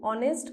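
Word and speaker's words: honest: clear she Sita is एन ऑनेस्ट girl क्योंकि H silent है example number six आई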